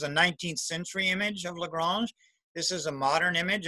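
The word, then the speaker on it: La Grange: I'm saying it like the ZZ Top. Well, LaGrange, that's how it's pronounced in Georgia.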